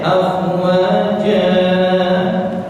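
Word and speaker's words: أفواجا: Nah, afwaja yang seharusnya dibaca mad wal dua harokat, kepanjangan dikit jadi 3,5 harokat. 3,5 harokat ya salah. Harusnya dibaca afwaja, dibacanya afwaja.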